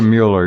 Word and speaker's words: Mueller: No, it's hard to, Mueller or Mueller.